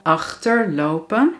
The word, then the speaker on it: achterlopen: Dan de tweede eigenschap is dat de klemtoon op het eerste deel ligt. Kijk naar deze voorbeelden. Achterlopen, achtervolgen.